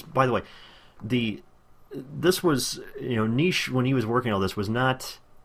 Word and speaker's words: Nietzsche: He became enamored of the philosophy of, I cannot pronounce this name, Nietzsche's, I cannot pronounce this guy's name. It's Nietzsche. S-C-H-E. It's German.